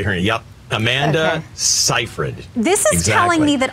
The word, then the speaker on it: Seyfried: best it's amanda amanda's a first name cipher seifried is how you say her yup amanda seyfried this is telling me that all these actors